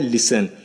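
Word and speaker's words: listen: इस वर्ड के साथ फिर इधर है लिसन तो आपका इधर टी साइलेंट कर दिया गया है तो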